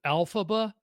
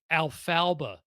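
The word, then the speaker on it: Elphaba: uh instead of alphaba Mike at that time I said alalfba like alalfa like I I just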